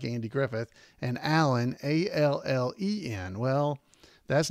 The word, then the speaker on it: Allen: It's spelled Andy, of course, like Andy Griffith, and Allen, A-L-L-E-N. Well, that's not how I spell my name. People spell it wrong all the time, but it's Allen as in Steve Allen.